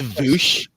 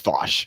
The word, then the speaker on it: Vaush: It's actually pronounced Voosh for everybody. It's Voosh or Vwish. No, it can be Vuvuzela if you want it, but it's Vosh.